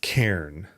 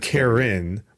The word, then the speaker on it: Cairn: Recently, Kyle has been playing Karn, or it's pronounced Cairn, not Karen, but it's Cairn.